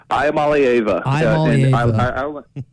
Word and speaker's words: Iamaleava: Nico Ilmueva, is that how you say it? Iamaleava.